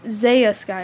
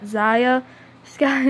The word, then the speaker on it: Zaius guy: youtube name wrong it's Zaius guy not Ziya sky it's Zaius guy okay Zaius got it's not that hard but if I'm spelling